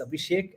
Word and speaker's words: Abhishek: Tammy, I was listening from the backstage and you pronounced my name absolutely correctly. It's Abhishek.